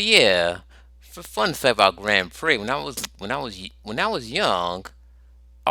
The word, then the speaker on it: Grand Prix: I always asked myself, why the X is silent? I mean, why can't they just call it Grand Prix? Like how you pronounce Trix cereal.